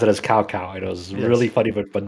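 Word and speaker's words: Cao Cao: name that looks like Cow Cow, but it's not Cow Cow? How do you say that? Usually I hear it as Chow Chow. Chow Chow. No, it's in Cantonese, it's a Toe Toe.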